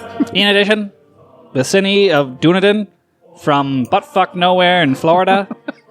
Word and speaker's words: Dunedin: I believe it's Dunedin. Dunedin? That's how you say it, yeah.